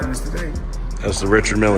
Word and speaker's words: Richard Mille: How's the Richard Mille? It's very humble. You know, I like to call this Well, they people pronounce it different ways. Richard Mille is what my jeweler told me.